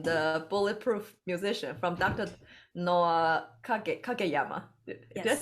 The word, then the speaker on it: Noah Kageyama: Noah Kageyama.